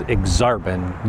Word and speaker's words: Aksarben: Okay, so the next neighborhood we're going to talk about is Aksarben. Yes, that is how it's pronounced. It's actually Nebraska spelled backwards. Right now, I'm in Aksarben Village, which is kind of the commercial district